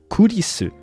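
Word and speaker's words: 紅莉栖: En effet, ça se prononce Kurisu, donc ça ressemble à Chris, et ça vient de là.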